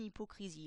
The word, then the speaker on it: hypocrisie: h mais une hypocrisie la différence c'est que dans un cas on va prononcer le E qui est avant ici une h alors que dans l'autre cas on ne le prononcera pas une hypocrisie parce que le H qui commence le mot hypocrisie est un H totalement MU du coup quand on